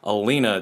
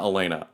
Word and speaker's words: Alina: the author's name incorrectly her name is alina j kim not elena alina so i do apologize